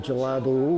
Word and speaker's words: gelado: It's one of my favorite things is gelato, which is, I just pronounced intentionally in a Italian way. Ice cream in Portuguese is gelado with a D.